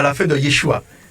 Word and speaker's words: Yeshua: C'est une lettre qu'on retrouve à la fin de Yeshua. Voilà, normalement, on devrait dire Yeshua. Très léger. Vous voyez, très léger, mais bon, souvent on ne prononce pas. Mais ça s'appelle une lettre gutturale d'ailleurs.